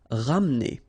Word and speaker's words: ramener: Ramener. Okay, don't insist here on the E. Ramener.